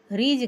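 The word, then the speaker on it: ridge: तोरई रीज guard रीज guard means तोरई होता है। देखिए डी साइलेंट है। आर आई डी जी ई यहां पर डी का उच्चारण नहीं हो रहा है।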